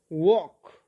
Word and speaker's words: walk: at the word here l is silent silent means that sound is not heard when you read it you don't say talk